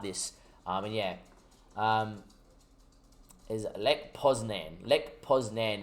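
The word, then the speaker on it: Lech Poznań: Lech Poznan is the British pronunciation, is what Ali's telling me.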